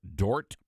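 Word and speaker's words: Dordt: of Chapel has there at Dort the D silent University I'm just saying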